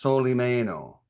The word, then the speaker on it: Solimeno: My last name is pronounced Soleie Mayo.